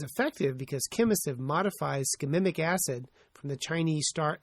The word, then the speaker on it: shikimic: It's shikimic. I mispronounced it wrong, and I do not want to go back and redo it. It's shikimic acid.